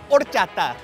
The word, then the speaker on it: horchata: For all you people out there, the H is silent. Horchata.